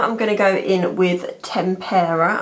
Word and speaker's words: tempera: gonna go in with tempera I finally said it right not tempura and I'm just gonna